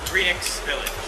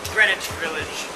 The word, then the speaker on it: Greenix Village: find a place called greenix Village not Greenwich Village greenix Village and when you hear